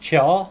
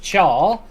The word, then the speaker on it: chai: called chai or char it actually pronounced char although it's spelt chai and the the china